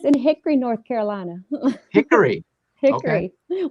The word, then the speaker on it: Hickory: Hickory. Okay. We make it a 2-syllable word here.